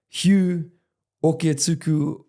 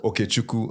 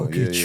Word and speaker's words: Okechukwu: Bro, correct me as well for my pronunciation, but Hugh Oketsuku? Okechukwu. Okechukwu. Yeah. Okechukwu is my Igbo name, Igbo Nigerian.